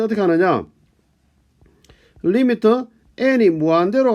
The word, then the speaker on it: lim: 리미트 LIM이라고 쓰고 읽을 때는 리미트라고 읽습니다. 그렇죠? 뒤에 원래 LIMIT에서 IT 생략하고 LIM이라고 쓰면서 우리가 리미트라고 읽습니다.